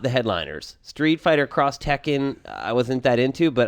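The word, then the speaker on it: X Tekken: is that the right way to say it cross Tekken yes I hate it uh and uh the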